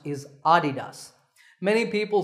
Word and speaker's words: Adidas: So the correct pronunciation is with the stress on the first syllable, ah, Adidas.